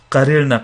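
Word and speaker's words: قررنا: Lam position becomes sakin, so you actually open it up and you pronounce both ras. Qarirna, qarirta.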